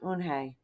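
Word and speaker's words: Unhei: "Yes, it's pronounced Eun-hee. And it means grace," Mr.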